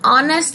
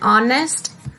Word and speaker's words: honest: The sound of H is silent in honest and hour both, and hence we say as an honest and hour.